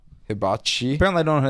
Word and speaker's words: hibachi: Hibachi. Yeah, that's so it's not you emphasize the H. Good to know. Hibachi.